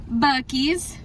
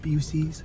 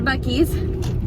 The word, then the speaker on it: Buc-ee's: We're at Buc-ee's. It's very famous here in Texas. And it's not pronounced Busey's.